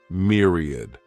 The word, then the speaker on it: myriad: This word has 3 syllables, and the stress is on that first syllable. Mere sounds like mere, myriad.